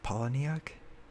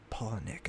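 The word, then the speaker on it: Palahniuk: pal paulineck i actually thought that it was polyneic or poloniac but apparently it's pronounced polynic i found out today he said it himself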